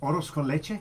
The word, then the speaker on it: arroz con leche: Isn't that arroz con leche? Arroz con leche. I said it. She always amazing. fixes my pronunciation.